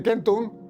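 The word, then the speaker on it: centum: Y aquí ocurrió una coinci en latín se dice kentun. Recordar que la C en latín se pronuncia como una K.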